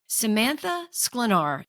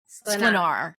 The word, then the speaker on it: Sklenar: The correct pronunciation is Sklenar, but no American even can make that noise with their tongue unless they have like extensive training. So we say Sklenar.